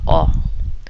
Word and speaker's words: ho: Very important that you know in Italian we don't pronounce the H. H is silent. So io ho.